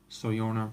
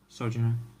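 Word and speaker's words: Sojourner: Not Sojorn, but Sojuner.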